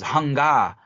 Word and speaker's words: Hunga: And the being's name was almost like hunger. It was Hunga, and that's the way we would pronounce it in our language, is Hunga.